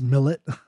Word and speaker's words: Millet: His last name is spelled Millet. I believe that's Millet. But in English it's Millet, but I'm sure he wouldn't appreciate that butchering of his name.